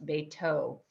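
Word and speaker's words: בֵּיתוֹ: Habayit shelo becomes beito, again for his house, beito, with a vav, and we see vav not being pronounced with the v sound, but because there's a nikud, or the vowel on top, the o sound.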